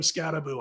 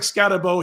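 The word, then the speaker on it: Skattebo: to check out cam scaboo I'm going to tell you right now I know it looks like scabo he pronounces it scabo this guy is a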